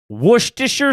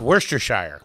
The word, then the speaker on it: Worcestershire: Worcestershire sauce.